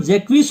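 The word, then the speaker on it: Jaques: इट is spoken by मेलनकली जैक्विस, इसको सही उच्चारण जैक्विस होता है, कई लोग जैक्स भी पढ़ते हैं लेकिन जैक्विस होता है, वो मेलनकली होता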